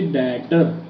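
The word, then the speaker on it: debtor: यूज करते हैं बच्चे डेटर। बी साइलेंट है यहाँ पे, आप वर्ड यूज करेंगे डेटर, राइट।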